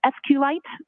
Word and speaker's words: SQLite: lower cave it and sqlite uh is also commonly pronounced as SQ light so both pronunciations are acceptable now once you received